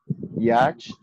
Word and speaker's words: yacht: So we do not say yacht. Yacht is incorrect. We say yacht.